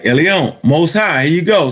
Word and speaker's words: Elyon: All right, Elyon.